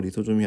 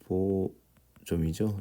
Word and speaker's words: 리보솜: 리소솜이 아니라 리보솜이죠. 리보솜. 네, 소솜 발음이 안 되네요. 죄송합니다. 리소솜이 아니에요. 리소가 아니죠. 소가 아니다.